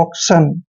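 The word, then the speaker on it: auction: Next देखिए AUC का उच्चारण ऑक करते हैं, ऑक, ऑक। और TION को हम सन पढ़ रहे हैं, ऑक्शन।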